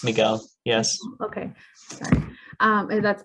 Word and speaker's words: Miguel: Am I pronouncing your name correctly? It's Miguel.